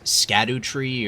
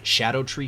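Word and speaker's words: Scadutree: Many people have been pronouncing this as Skadu Tree or Skadu Tree, but I recently learned that Skadu in Old English is pronounced Shadow, so they really should be called Shadow Tree fragments, and also it just makes more sense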